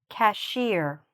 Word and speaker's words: cashier: "Cashier", "cashier". Where's the stress? In the last part.